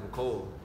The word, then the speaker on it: Mecole: It's actually pronounced Mecole.